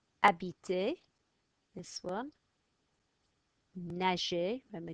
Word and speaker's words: habiter: Silent H, H is always silent. Habiter, this one.